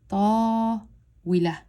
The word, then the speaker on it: طاولة: part of the word, I blend these two together and I go طاولة. So first, I learn how to say it as slowly as possible. Then I learn how to go from one syllable to two syllables. So طاولة. طاولة. So over here is we, la, but I go طاولة. And I have to read it out loud.